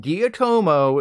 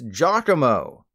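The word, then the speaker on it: Geeta: Pokemon the amount of people who think he's called guillotomo is frankly astonishing it's Giacomo like the very common human name in our world again it's Giacomo you're welcome let's leave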